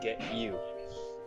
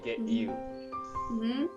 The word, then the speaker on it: get you: most of the time the native speaker would say get you they don't pronounce the t anymore right they say get you something you get you